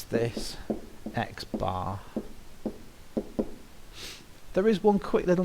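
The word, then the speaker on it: x̄: the mean of X and we're going to pronounce this X bar there is one quick little note that I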